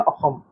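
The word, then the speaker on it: অসম: So Ayushman Assam नहीं बोलेंगे इसको, आयुष्मान अहम। ठीक है, अहम प्रोनाउंस होता है, एस वहां पे ह होता है।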